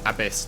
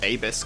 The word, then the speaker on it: Abyss: Okay, it is pronounced Abyss, not Abyss.